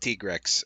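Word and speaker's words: Tigrex: time the monster Tigre, which I will never ever ever call anything other than Tyigrex, uh the developers themselves came on an interview and said it's pronounced Trex.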